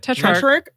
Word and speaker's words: Tetrarch: Tetrarch.